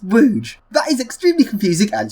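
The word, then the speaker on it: Łódź: Poland and despite how it looks it's not pronounced Lords it's pronounced Rouge that is extremely confusing and strange Lester off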